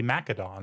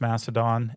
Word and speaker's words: Macedon: But in English we have softened that in many places to an S sound. And so you could definitely make the argument that it should be Macedon and people definitely do.